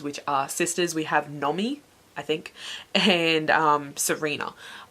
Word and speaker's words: Nomi: I did absolutely every time pronounced Nomi, whatever her name is, as Naomi, because you add in an extra letter and you've got Naomi, and that's just what I kept reading it as for some reason.